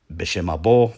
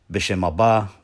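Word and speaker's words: ܒܫܡ ܐܒܐ: Or if one would prefer to not pronounce the terminal aleph at the end of each noun as an O, I suppose this can be alternatively pronounced B'Shem abba, wabara, waruha de kudsha.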